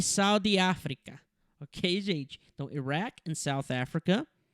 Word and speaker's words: Iraq: Então, primeiro que Iraque, no inglês eles falam Iraq, ok? Pronunciam aqui comigo, Iraq.